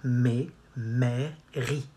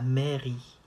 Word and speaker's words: mairie: Not mairie. Où se trouve la mairie?